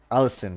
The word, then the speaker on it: Allison: Because is it Allison or Alzin, or how should I pronounce this? Allison. Okay, Allison. It's your second win now in a row, right?